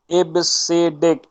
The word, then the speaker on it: EBCDIC: ठीक है, इसका प्रोनाउंस जो होता है वो इबसीडिक होता है।